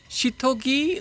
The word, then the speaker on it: Seithogei: इसको हाउ डू you pronounce this? Shithogi Living School.